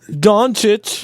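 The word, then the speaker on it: Dončić: Pronounce me. Doncic.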